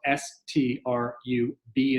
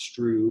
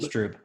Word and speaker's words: Strüb: So the name Strüb is spelled STRUB as in boy. It looks like Strub. It's pronounced Strüb. Strüb.